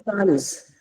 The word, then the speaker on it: sans: No, it is sans. Sans. Yes. Sans. The last sound is also z, not s.